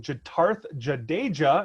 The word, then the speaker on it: Jitarth Jadeja: I am here with Jitarth Jadeja, and I know I pronounced that correctly because I did ask you ahead of time on that one.